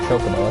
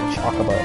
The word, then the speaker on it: Chocobo: But I was right about Chocobo. I can't believe some people said Chocobo.